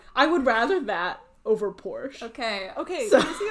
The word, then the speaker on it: Porsche: I know the official pronunciation that they're going with is Porsche.